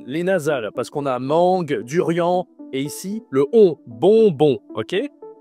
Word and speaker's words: mangue: C'est la mangue. La mangue. OK. Tu utilises le nez, hein. C'est en la nasale pour la mangue.